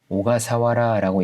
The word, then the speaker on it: 小笠原: 여기서 이상한 이름이 하나 나왔는데 이 세 글자짜리 오가사와라라고 읽습니다.